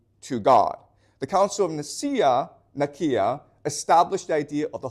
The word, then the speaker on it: Nicaea: Okay, it's properly pronounced Nicaea, but most people pronounce it Nicaea.